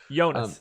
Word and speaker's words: Jonas: in all caps but spells it with the y completely unaware that that's exactly how you say his name so congratulations you have